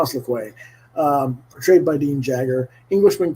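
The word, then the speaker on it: Louque: The group includes General Mazovia, a student of dead languages, Armand I think it's Lequay, pronounced Lequay, portrayed by Dean Jagger,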